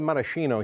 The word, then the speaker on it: maraschino: we go with the maraschino cherry by the way we call it marashino here in the United States but in Italy we call them CH is pronounced K so here we go